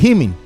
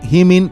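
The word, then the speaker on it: ὑμῖν: La frase dice: Ananken eskon grapsai himin. A ver, yo sé que ahí está una U, pero se pronuncia como I. ¿Qué quieres? Yo no escribí el griego. Comienzo de nuevo. Ananken eskon grapsai himin parakalon epagonisestai.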